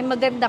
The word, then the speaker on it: maganda: Ay, maganda ka. Beautiful. Beautiful. Beautiful? Yes. How do you say that? Maganda. Maganda. Maganda. Ka. Maganda. Magang ka.